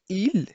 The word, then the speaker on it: il: فالبعض من المبتدئين في تعلم اللغة الفرنسية دائما يتساءلون ما الفرق بين il et elle. il للمذكر و elle للمؤنث، مع أنه يرى أنهما لا يختلفان في النطق.